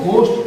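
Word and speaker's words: ghost: जहां पे देखिए जी के बाद एच आ रहा है तो इसे हम घोस्ट नहीं पढ़ेंगे, बहुत सारे स्टूडेंट इसे घोस्ट पढ़ते हैं, घोस्ट नहीं पढ़ना है, इसे हम लोगों को गोस्ट पढ़ना है, गोस्ट, गोस्ट पढ़िए।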